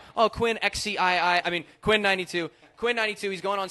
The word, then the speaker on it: Quinn XCII: It's extremely hard to pronounce his name correct the first time. Quinn92, thank you so much, man.